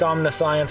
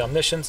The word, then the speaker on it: omniscience: is the mission's Draft spelled like omnis science but it's actually omniscience is how you say that in this draft event